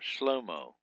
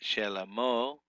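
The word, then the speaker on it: שְׁלֹמֹה: Or some people don't even put the Shavah in here and call him Shlomo. But Shelomo is the correct pronunciation.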